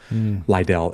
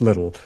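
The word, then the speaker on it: Liddell: Lidell is sometimes how it's pronounced or sometimes what it's what people call him, but it's Little.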